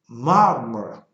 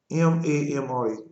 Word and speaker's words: Mamre: They said Mamre, M-A-M-R-E, Mamre, which is near Hebron.